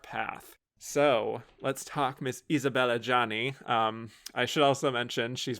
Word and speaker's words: Isabelle Adjani: J'adore Isabelle Adjani. Kudos on your French pronunciation, by the way.